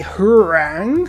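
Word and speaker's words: Hwarang: The Hurang, which is of course how you pronounce it, extra culture, extra science, again, it's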